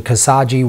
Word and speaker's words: Khashoggi: So the reaction since that reporter, I believe I'm pronouncing his name correctly, Khashoggi, was murdered by the Saudis in like the Saudi embassy in Turkey, which is pretty insane.